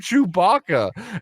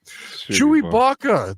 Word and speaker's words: Chewbacca: you you were offered chewbaka and then again Bill Walton doubles down on his pronunciation he goes like chewy Baka the big the big hairy man like like he keeps calling him chewy Baka the only person to